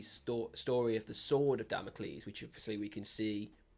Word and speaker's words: Damocles: Yeah, so Sleep Token, they have released a new song called Damocles. Yes, I pronounced it right.